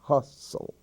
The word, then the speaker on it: hustle: e the LA sound Hustle that's an exception hustle bustle and Russell in those words the t is silent bustle a hustle bustle